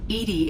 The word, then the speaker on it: EDI: are you named eating Edie is the phonetic pronunciation of EDI that is an acronym